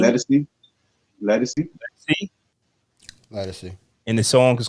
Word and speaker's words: Ledisi: How do you pronounce her name? Ledisi.